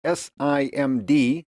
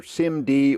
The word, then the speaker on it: SIMD: In particular, the acronym SIMD, pronounced either SIMD or sometimes just spelled out SIM D.